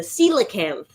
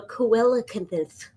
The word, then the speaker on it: coelacanth: The celacanth, not the coelthan.